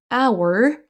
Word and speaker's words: hour: Attention donc our, on ne prononce pas le H.